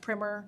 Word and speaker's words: primer: our policy primmer it's spelled primer but it's pronounced primer don't ask me why um when we deliver